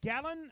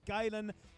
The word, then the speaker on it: Galen: girls with 287 pounds gallon am I pronouncing that correctly if you can hear me gallon hope I'm pronouncing that correctly gayen sorry you my apolog Galen thank you Galen Brendan Hunter